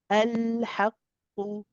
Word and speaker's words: الحق: Haqqu, the qaf is a heavy letter. So you want to make sure that you are not saying haqqu, you want to say qu. It's got to sound heavy. Okay, and because of the dhamma, because of what we call the, I think some people call it a pesh on it, but the dhamma on it, you have to circle the lips.